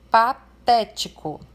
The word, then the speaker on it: patético: Um outro exemplo, patético. Nós temos aqui uma polissílaba, uma palavra com 4 sílabas. E a sílaba té ali é a sílaba acentuada e é a antepenúltima da palavra.